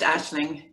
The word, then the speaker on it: Aisling: It's pronounced Aisling, but I should always put it in phonetically for people afterwards.